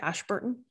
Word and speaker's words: Ashburton: And I think part of that was that this third mosque that he was going to was up in Ashburton. Am I pronouncing that right? Ashburton.